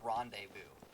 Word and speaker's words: rendezvous: peeve with, the word rendezvous. That is not spelled as rendezvous. Like, what in the world? There's a Z in that word, and the Z does not get pronounced.